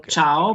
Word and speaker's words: ciao: with your C there we don't use it at a chair because there is no e there is no e and no I so ciao but if you don't have the I or the E is cow is okay good the difference